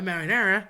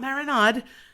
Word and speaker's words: marinara: gravy, which could be a marinara, not marinade, marinada, and that is generally a um meatless gravy, or you could have a bolognese, which generally has the meats.